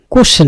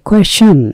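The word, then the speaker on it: question: কোয়েশ্চেন, কোশ্চেন না, উচ্চারণটা আমরা জানি কোশ্চেন সবাই, কিন্তু উচ্চারণটা একটু খেয়াল করবেন। কোশ্চেন না, এর উচ্চারণ হচ্ছে কোয়েশ্চেন। কোয়েশ্চেন মানে হচ্ছে প্রশ্ন করা, জেরা, জিজ্ঞাসা করা।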